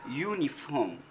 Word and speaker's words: uniform: non parce que les les U ici c'est prononce you il y a des